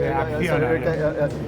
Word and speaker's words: Acciona: I pronounced that correctly. Yeah, that's always Acciona.